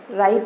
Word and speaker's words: rite: आर आई टी ई राइट। इसको भी हम प्रोनाउंस राइट ही करते हैं।